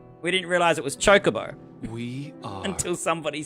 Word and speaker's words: Chocobo: So me and my friends would always say Chocobo. Oh, it's a Chocobo. Let's ride the Chocobo. We didn't realize it was Chocobo.